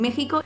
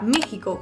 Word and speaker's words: México: una muletilla que todo el mundo usa en México.